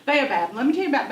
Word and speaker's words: baobab: Baobab.